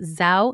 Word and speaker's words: Zhou: And that is why I'm excited to talk to you about Zhou Nutrition. It's spelled Z-H-O-U.